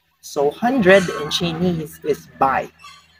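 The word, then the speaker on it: 百: So 100 in Chinese is Bai. Bai.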